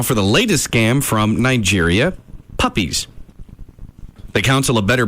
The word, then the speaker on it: Niger: you miss that a did I say it wrong yeah yeah I looked that up too yeah it's Niger oh yeah not what